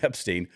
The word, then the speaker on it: Epstein: I just put the wrong emphasis on the wrong syllabo. Jeffrey Epstein.